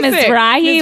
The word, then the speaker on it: Mizrahi: every That's- name wrong. when I'm what is? How do you say it? Isaac Mizrahi.